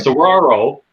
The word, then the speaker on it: Saguaro: I got to say it right because it looks like Seguro to me, but it's Spanish. Right. Sauraro, and it is a